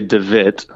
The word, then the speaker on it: DeWitt: Yeah, Sem, he would say DeWitt. Makes sense, DeWitt. That's the pronunciation.